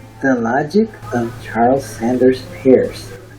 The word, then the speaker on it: Peirce: logic of charles sanders pearce is spelled p-e-i-r-c-e pairs you can learn a